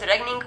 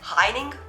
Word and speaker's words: regning: about the Danish language, you will probably pronounce it regning, which is so very wrong, and Danish people will probably choke and have a crisis if they hear you say that. So it's something like the G in the middle disappears, and then the E is not really an E, but it's an A, so it goes like heining.